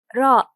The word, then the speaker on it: راء: Our letter this time is ra. Ra. It is the equivalent of R, but its sound is clear of trilling and curling.